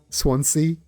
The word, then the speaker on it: Swansea: You pronounce swan like swan and sea like sea. Swansea you put too much s on it. Swansea.